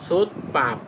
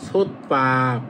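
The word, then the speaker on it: 솥밥: মানে বন্ধ করা আবার এটা দেখেন সো বাপ সোবাপ তখন আপনি এটা উচ্চারণ করবেন সোত পাপ এই যে বটা হয়ে যাবে প তখন হবে সো পাপ মানে রাইস কুকার।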